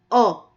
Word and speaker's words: ㅓ: Ngayon, habang isinusulat natin itong Korean alphabet na O, bigkasin din natin yung sound niya, which is O.